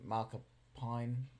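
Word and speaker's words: McAlpine: And you know, one of our favorite singers at the moment, like Lizzie Malkapine, that's how you pronounce her surname.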